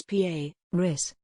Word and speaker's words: Paris: The streaming service said the name should be pronounced the French way so it rhymed, presumably Emile, Ian while Babbel say the phonetic pronunciation is Paris.